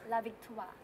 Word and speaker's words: La Victoire: It's pronounced La Victoire. La Victoire. Toi, with the hand motion.